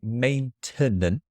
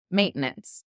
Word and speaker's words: maintenance: So I would say maintenance. Ma- maintenance. Maintenance. Okay. So you've got two syllables. I've got three.